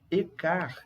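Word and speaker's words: et quart: E-car. E o que é esse car, Felipe? A pronúncia, pessoal, car. Car.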